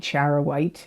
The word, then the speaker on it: charoite: December of 20124 you got charoite and charoite is spelled c h a r oi te charow white it's a it's a soul Stone it works